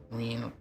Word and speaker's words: Reen: I guess Reen rhymes with spleen.